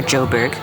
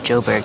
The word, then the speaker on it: Joburg: drive outside of Johannesburg, or Joburg, as the locals say. Might as well give you all the lingo. Call it Joburg. They don't say Johannesburg the whole time.